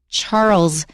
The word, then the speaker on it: Charles: Charles is how you say it correctly, so Charles Dickens. One thing about Charles Dickens is he chose the names of his characters in his stories very carefully.